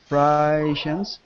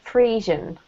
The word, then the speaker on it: Friesian: Today, a single breed, Holstein Friesians, account for 90% of dairy cattle raised in the U.S., and another 4% are Jersey cattle.